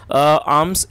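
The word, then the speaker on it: alms: word देख रहे हैं ए एल एम एस आर्म्स इसमें जो एल है वो साइलेंट है तो आप इसको आर्म्स पढ़ेंगे और इसका मतलब होता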